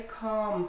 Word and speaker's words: calm: So these ones have L missing from their pronunciation. The L, calm. He's a very calm person.